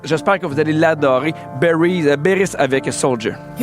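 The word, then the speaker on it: Beyries: Elle s'appelle Beris. OK, mais ça s'écrit B E Y R I E S.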